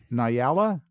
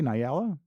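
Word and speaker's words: Nyala: wow yeah so uh I guess it's pronounced Nala n y a l a Nala yeah Nala s good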